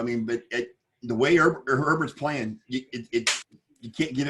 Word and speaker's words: Herbert: not it's spelled no it's not a bear it's it's herbert it's not a bear